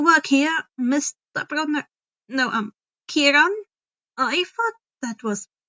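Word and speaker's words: Kheiron: you um you work here Mr no um Kiran I thought that was pronounced shiron oh yes that's how many pronounce my name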